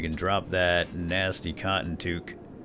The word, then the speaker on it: toque: It's a Canadian toque, pronounced toque.